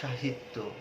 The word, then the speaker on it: সাহিত্য: তুমি যদি আবার বলো সাহিত্য, সাহিত্য দেখো দন্ত স দিয়ে লিখছে কিন্তু তালব্য শ দিয়ে উচ্চারণ করছে।